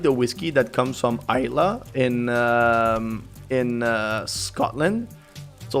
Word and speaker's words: Islay: And I just started pronouncing it Isla, you know, after this interaction that we had.